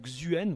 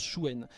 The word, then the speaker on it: Xuen: nord nous avons Chuen ça se prononce Chuen je sais que souvent se prononce xuen vous pouvez tout à fait dire xuen il y a pas de problème mais ça se prononce Chuen et Chouen c'est le